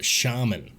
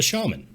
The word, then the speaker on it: shaman: Shaman not the shaman not the shaman the shaman and today I'm going to prove it it's pronounced shaman like this let's start with an example for American English in the U.S we say shaman so interesting fact Shaman is how it's pronounced in the UK we're not in the